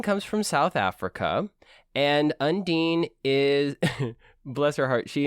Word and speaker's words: Undine: from south africa and undine is bless her heart she included for juliana's pronunciation corner think of underwear and nadine and then put them together andy this is clearly this